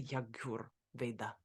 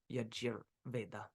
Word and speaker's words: Yajur Veda: The Bhagavad Gita also says about Om, I am the syllable Om. I am the Rig Veda, the Sama Veda, as well as the Yagur Veda, or Yajur Veda.